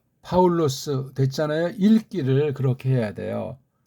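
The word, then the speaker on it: Παῦλος: 것을 아시면 되겠습니다 자 파울로스 됐잖아요 읽기를 그렇게 해야 돼요 근데 중요한게 여기 이제 아우라고 하는 건 단모음으로 발음해야 돼요 단모음 이게 두 개를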